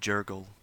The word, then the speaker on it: Jergal: I guess it said Jurgle. That's how you say it.